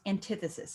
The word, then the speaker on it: antithesis: Antithesis is how you spell it, but it's pronounced antithesis.